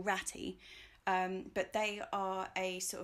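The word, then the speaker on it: Ratte: out the rat potatoes, which is spelt R-A-T-T-E, I don't know if you say it rat or ratty, but they are a sort of derivative potato of the pink fir apple, but less knobbly.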